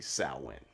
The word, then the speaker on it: Samhain: equally as confusing so the correct way to pronounce samhain is actually salwin i don't know if